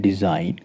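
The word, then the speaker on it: design: तीन एग्जांपल लेते हैं डिजाइन न और साइन देखिए डिजाइन के अंदर भी डी ई एस आई जी एन एन से पहले जी है साइलेंट रहेगा कैसे प्रोनाउंस करेंगे डिजाइन उसका अर्थ है रचना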